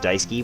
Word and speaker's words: dSuki: I heard it's pronounced Daisuke, but I like to say DsukI, because I can read.